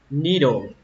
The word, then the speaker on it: needle: Cái kim thì các bạn đọc là needle, needle, âm ni nó hơi dài một chút, needle, ở đây mình